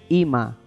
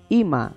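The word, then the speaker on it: אמא: Usted quiere decir mamá en el hebreo, solamente dice Ima. ¿Cómo va a decir? Ima.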